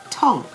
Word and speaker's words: tongue: Tongue, T-O-N-G-U-E. The U is silent.